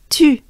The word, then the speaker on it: tu: So here is a tip to pronounce it. Basically, you make a droopy face. You drop your jaws, your mouth, your lips.